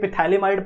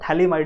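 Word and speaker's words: phthalimide: के बारे में तो थैली माइड यूज करो बिकॉज प्रोनंसिएशन इसकी सही क्या है थली माइड this P इज a silent समझ में आ रही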